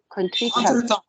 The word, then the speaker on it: contretemps: all-wise in the cosmos, or an ugly country Contretemps. It's pronounced in French.